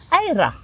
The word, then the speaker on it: Eira: Ara. Yeah, it's a slightly rolled R and that confuses an Englishman, does it?